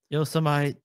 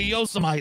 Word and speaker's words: Yosemite: This is just the dude mispronouncing. He called Yosemite National Park Yosemite for like 7 minutes. So Yosemite is an amazingly beautiful place.